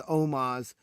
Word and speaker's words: Omos: Because you spelled his name wrong. It's Omos.